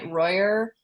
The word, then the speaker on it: Rojer: my Instagram is Royer forreal estate last name is spelled r o j r pronounced with a Y um you can also add me on Facebook just Royer and I believe Mike's